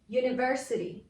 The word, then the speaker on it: university: say a european country university u the first sound is u that's a consonant sound so i'm gonna use